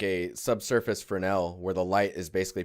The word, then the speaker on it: Fresnel: just you spell it as Fresnel but it's pronounced for an L but like when you get to the glancing